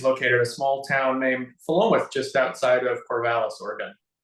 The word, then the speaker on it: Philomath: You looked at us with this look and said, "You're all wrong. It's like pronounced differently." So it's Philomath.